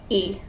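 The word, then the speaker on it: ㅣ: and down and it's e it's pronounced e and they don't really have names they're just their pronunciation is the name of the vowel essentially so it's just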